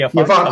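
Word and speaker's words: Afanc: But I'm gonna say the Avank. The Avank, that's right. Yeah, the Avank. It's spelled with an F.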